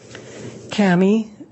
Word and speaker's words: Cammy: your direct examination state your name and spell it for the record Kami c-a-m-m-y where are you currently employed